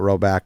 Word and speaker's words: Rhoback: I just have like jeans, khakis, and I'm wearing these now, these Carhartt pants, but I need a lot of joggers from Roback in the rotation immediately.